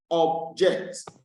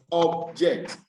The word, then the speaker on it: object: But if I realize that it is a verb, automatically or usually the stress will be on the last syllable.